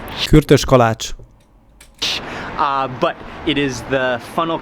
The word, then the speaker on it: Kürtös kalács: I believe that is called kurtos kalak. Kürtös kalács.